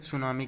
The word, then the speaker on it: tsunami: सुनामी क्या है, एक जापान के शब्द से लिया गया है ये जो वर्ड है सुनामी, ये जिसमें टी साइलेंट, TSUNAMI, इसे हम सुनामी पढ़ेंगे।